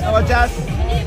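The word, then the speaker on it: Elajjaz: Yeah, my name is Elajaz. Okay, that's good. How do you spell that?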